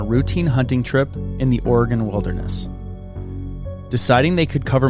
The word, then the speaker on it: Oregon: with that yeah and did i say oregon right it's oregon oregon oregon oregon like the like an organ i know that